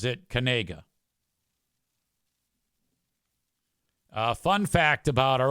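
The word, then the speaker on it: Knigga: A and he's a white dude and he pronounces it Kanega.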